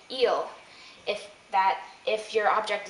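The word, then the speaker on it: il: plural and L plural notice that these are pronounced the same eel eel l l um for eel it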